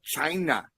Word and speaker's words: Chyna: And then that's the wrestler's name is spelled CHYNA. That makes me think of the VKM YouTube channel. Are they still up on YouTube? That's China.